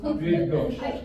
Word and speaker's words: Bydgoszcz: You got that double sh sound again? Bydgoszcz.